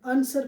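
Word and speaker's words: answer: आंसर नहीं पढ़ा जाएगा, आंसर पढ़ा जाएगा, राइट पढ़ा जाएगा, ना कि राइट पढ़ा जाएगा। तो याद रखेंगे, आर से पहले डब्ल्यू आने पर साइलेंट, एस के बाद डब्ल्यू आने पर साइलेंट।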